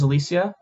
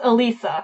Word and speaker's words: Elisa: who I'm assuming her name is Alicia it's Alisa Alisa Oh Lee see I'm putting an extra extra syllable in there to level okay so